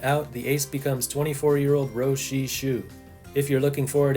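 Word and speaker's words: Jo-Hsi Hsu: With Rui Yanggu-Lin out, the ace becomes 24-year-old Ro Shi-Shu. If you're looking for it, it's spelled like Joe, but pronounced Ro Shi-Shu.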